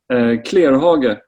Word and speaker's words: Clerhage: Clerhage.